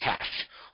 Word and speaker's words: CSH: a combat support hospital, a CSH, pronounced CASH, formerly known as Mobile Army Surgical Hospital.